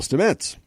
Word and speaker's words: Stamets: Paul Stamets is based on real-life mycologist Paul Stamets and that's how you pronounce his name now I know how to